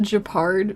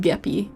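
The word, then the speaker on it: Gepard: brosa for real true also I know it's pronounced japard but it's just gappy like every time I talk about this character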